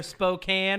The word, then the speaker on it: Spokane: thank God Spokan Spokan depends on if you're in the north of the South it's either Spokane or Spokan um but uh yeah